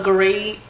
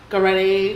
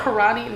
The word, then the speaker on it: Garate: People be like, oh, karate? No, it's not karate.